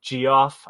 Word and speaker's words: Geoff: By the way, that Geoff, I'm saying it that way, that it's spelled like Jeff spells his name.